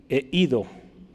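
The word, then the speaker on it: εἴδω: Se escribe o se pronuncia, perdón, eido, que significa conocer, saber. ¿Sí? Esa palabra. Eido, conocer, saber.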